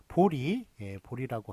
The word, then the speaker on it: 보리: 그런데 이제 보리라고 그렇게 여기는 리라고 아예 발음도 아예 다르게 그냥 이렇게 발음을 해버리네요. 자, 그런데 이런 것 이것만 맞게 합니다. 그래서 보제가 아니라 보리라고 그렇게 하는 것만 맞습니다.